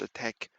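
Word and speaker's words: ATT&CK: uh related Mitra uh attack. I think they write it with an end sign, but it's pronounced attack.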